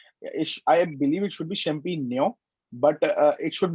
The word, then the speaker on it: champignon: So I think the GN is the near sound, right? So is it champignon or champignon? I'm not Champignon. sure about Nyon. champignon. Nyon. Okay, Nyon. champignon. It's All right. a G N mix. The sound is G N mixed together.